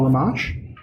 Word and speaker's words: Rimmasch: If you're a Coast to Coast fan or Mysterious Universe or just love a good ghost story, we have Paul Rimmasch. Did I pronounce your name right?